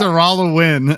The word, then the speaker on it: Araluen: I pronounced it right. Take that, native. No, you didn't. You didn't not, actually. It's Araluen.